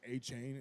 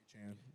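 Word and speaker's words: Achane: whatever yeah and yeah everybody's been saying achain it's yeah achan Devon aan Kenneth Walker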